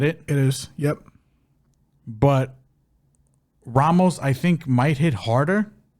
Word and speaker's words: Ramos: Ricardo Ramos, or Ramos, because he's Brazilian, so, you don't pronounce the R. It's Ramos.